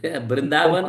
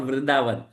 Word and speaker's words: Vrindavan: Brindavan or Vrindavan, they are same. Just like Bengali, you must be heard that Chakravarti, nahi Chakraborty. Okay, okay, okay, okay, okay. So important is that place is important. How it is pronounced by different people, that is a different thing. Okay. You But know, even with Vrindavan is Brindavan. Brindavan is Brindavan.